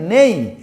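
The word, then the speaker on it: neigh: ডাকে কি বলে তাকে নেই এন ই আই জি এইচ নেই এন ই আই জি এইচ নেই মনে থাকবে উচ্চারণ হর্স তার বেবিকে বলে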